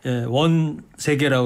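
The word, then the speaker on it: 원세개: 많이 나왔던 인물 아닙니까 원 세계라고 그러죠 원세계 위안스카이 이렇게 발음하기도 하는데이 위안스카이가 59년생이에요 1859년생 이때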